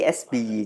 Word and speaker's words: esBeeyee: Jadi, yang pertama itu eh mau tak betulin itu pronunciation-nya. Jadi, SBY.